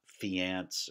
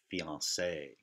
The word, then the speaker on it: fiancé: But it shows us that it's not fiance or fiancé, but fiancé.